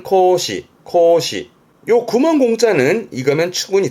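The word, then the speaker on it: 孔子: 발음은 코시 코시요 구멍 공짜는 이거면 추분이 되세요.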